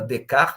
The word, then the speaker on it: Descartes: uma brincadeirinha com a própria palavra decar né que em português se escreve Descartes né a gente tá